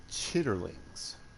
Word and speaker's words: chitterlings: give you a hint when you type out Chi t l i ns that's not it it's actually spelled like chitterlings delicious all right hours